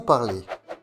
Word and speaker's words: parle: Je parle. Le E final ne se prononce pas. On va donc prononcer la lettre précédente. Ici, pour le verbe parler, on prononcera le L.